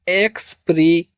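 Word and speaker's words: expression: पढ़ेंगे इसको एक्सप्रेशन सन।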